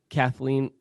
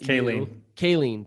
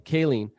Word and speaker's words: Kayleen: And Kathleen, I'll let Kayleen, dang it, I got your name wrong. Kayleen, I'll let you introduce